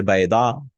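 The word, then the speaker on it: بيضة: If we wish to talk about one egg or fish, we add a ta, a feminine ending. He's saying a, but it's actually a ta.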